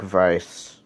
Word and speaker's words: Weiss: It's pronounced like Vise, but spelled differently.